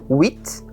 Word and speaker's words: huit: Então, o H é mudo e o T se pronuncia se a palavra seguinte não começar por consoante, ou seja, huit, mais huit garçons, huit filles.